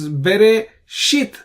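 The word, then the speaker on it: בְּרֵאשִׁית: So the shit syllable has an accent. Bara, ra syllable has an accent. Elohim, him has an accent. Therefore, you stress on it. You say Bereshit bara Elohim. So that's the stress on the last syllables in all these three cases.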